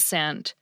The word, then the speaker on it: scent: So yes, the C of SC is what we usually call a silent letter in the case of words like science and scent.